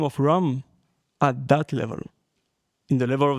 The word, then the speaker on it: Ram: And Ram is very simple, Ra-ma, 2 syllables.